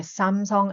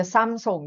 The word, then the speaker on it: Samsung: And also the Samsung, di ba? We used to call it Samsung, but in reality, it's called Samsung in Korea, no? Samsung, something like that.